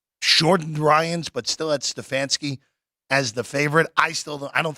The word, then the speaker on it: Stefanski: Stefanski, but I agree with you.